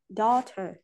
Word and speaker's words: daughter: Daughter. Rồi, chúng ta có daughters, fight and sightseeing. Âm G, cái chữ GS ở đây đều là âm câm ạ. Nghĩa là không phát âm.